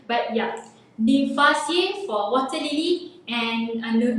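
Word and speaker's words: Nymphaeaceae: You might have difficulties in pronouncing their name, but yeah, Nymphaceae for water lily and Nelumbonaceae for lotus.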